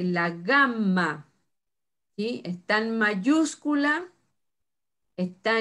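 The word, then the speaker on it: γάμμα: Para nosotros decimos gamma, pero en griego se pronuncia zagma. La Y se pronuncia como una Y. Es zagma. El sonido para nosotros es la G de gato, que es ga o ge.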